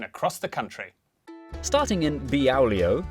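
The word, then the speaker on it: Beaulieu: Starting in Biaulio, Bewley, head over to Rampisham, Ransom, then down to Mouse.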